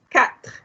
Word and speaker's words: quatre: Quatre. Pronounce the T, pronounce the R.